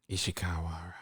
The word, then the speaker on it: Ishikawa: You have to say it right. Do it right. Ishikawa. There's no Wara.